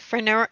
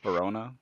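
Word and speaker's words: Perona: And like I loved how Zoro was with Hawkeye, and was it Fenora? I can never pronounce her name right. Verona.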